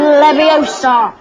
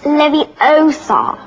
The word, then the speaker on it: Leviosa: Wingardium Leviosa. Stop. You're going to take someone's eye out. besides, you're saying it wrong. It's Leviosa, not Leviosa.